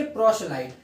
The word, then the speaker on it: proselyte: इसको हम बोलेंगे प्रोशलाइट।